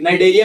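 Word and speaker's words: Cnidaria: यहाँ पे सी साइलेंट है तो ठीक है ना, यहाँ पे नाइडेरिया में सी साइलेंट कर देना है।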